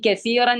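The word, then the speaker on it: كثيرا: നമ്മൾ നീട്ടി നിർത്തണം ഇനി കസീറൻ എന്ന ഭാഗത്ത് നിർത്തുമ്പോഴോ കസീറൻ എന്നുള്ളത് കസീറ മനസ്സിലായില്ലേ ഇപ്പോ ഇത് പറഞ്ഞത് ക്ലിയർ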